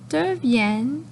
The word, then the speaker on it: deviennent: Les fleurs deviennent des petites tomates vertes. On ne prononce jamais le ENT, donc c'est deviennent.